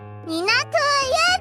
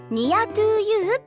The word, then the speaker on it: Near to You: 次の曲はニト U でございますからみなちゃんこの曲名はニア to ユって読むんですよそうでござい